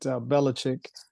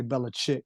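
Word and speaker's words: Belichick: it's reported that that bellich is I like to say bellachic because that's the way it's spelled but bellich um signed his extension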